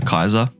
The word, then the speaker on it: Caesar: They've read the word Caesar rather than heard the word Caesar. So they pronounced Caesar Kaiser.